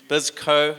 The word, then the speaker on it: Bisco: It's business co or Bisco. We have friends who get the name wrong. They call it business anco. It's not like Mckenzian company or anything like that. It's it's Bisco.